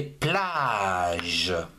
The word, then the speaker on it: plages: On ne prononce pas le s.